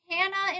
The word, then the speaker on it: Hannah: And I think technically her birth name was Hannah in one of my stories and she's French so she just can't pronounce the H. So it sounds like Anna anyway.